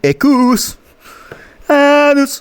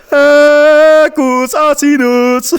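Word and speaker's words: Equus asinus: And I think Ecus Anus. I need to stop saying that. Why do I say it like that? Ecus Anus. Ecus Anus. Ecus Asinus. It's called Ecus Asinus.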